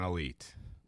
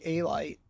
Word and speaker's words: Alite: are you welcome now the correct pronunciation of your name is it a like or Elite how how no it's actually elite elite is in you know the Albania pronunciation growing up in school no teacher could get it right so they used to say aite so we just said okay aite okay and then later